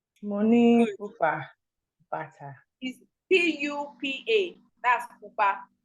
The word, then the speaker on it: pupa: If red is pupa. Money pupa bata.